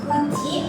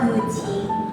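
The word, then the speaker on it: 口: Kalau semisal dia tuh berdiri sendiri kayak gini, ini enggak ada enggak ada pasangannya kan lain itu dibacanya kuci atau guci.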